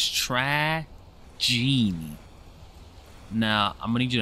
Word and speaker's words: Tragienie: How do you pronounce it's Tragienie.